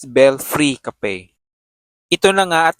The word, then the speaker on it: Belfry: So this time ita-try naman natin yung bell fry cafe dito sa Intramuros. Bell free pala ang tamang pag-pronounce.